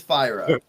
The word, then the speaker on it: Fyra: fire or fire it's fables of fire us so uh yeah we've got some debate on it but it definitely is fire oh man it's not